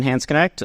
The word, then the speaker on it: Hansknecht: be H connect which I've been told is the like Americanized pronunciation the real pronunciation is more complicated I'm Italian the English